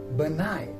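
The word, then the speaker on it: benign: n benigh again here first come g and then comes in so g plus m when g comes first and then comes later n then the g will be silent and these words are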